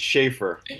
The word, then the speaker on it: Shaffer: It's It's been Americanized. It's Schaefer.